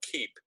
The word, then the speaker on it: Keap: um the company is now called keep it's spelled keap p and keep is small